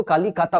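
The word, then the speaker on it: কলকাতা: और फिर आजादी के बाद जो कालीकाता शहर जो गांव था, इसका अगर हम लोग बंगाली प्रोनाउंसिएशन देखें तो बंगाली प्रोनाउंसिएशन में ओ की प्रधानता होती है, तो ये लोग कोलकाता उसको बोलते हैं।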